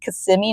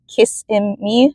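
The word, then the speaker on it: Kissimmee: sound the name and how you say it's CMI not kissim me I don't know how other people say it but it's CMI all right let's go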